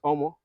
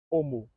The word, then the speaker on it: omo: m o right yeah so how do you pronounce it no no it's omo is it omo yeah omo okay assessments cupcake Sensational oh cool omu no U noooo assessment